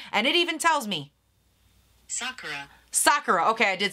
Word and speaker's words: sakura: where my brain went and so sakura it's sakura okay before you come for me tell me